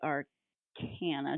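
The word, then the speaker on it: Arcana: and then there's also the art Cana did I say that right um yeah that's Rachel's world we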